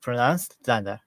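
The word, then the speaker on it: dunder: Modules and methods is double underscores to either pronounced Danda.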